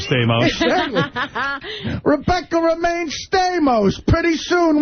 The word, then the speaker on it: Stamos: I think homos rhymes with Stamos.